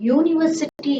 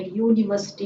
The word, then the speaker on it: university: So it is the pronunciation is coming like Y, isn't it? Starting with Y.